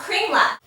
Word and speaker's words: Kringlar: It's called Kringlar. Kringlar. Kringlar. Very close. Kringlar. Kringlar. Cream puff. Quinoa. Quinoa? Kringlar.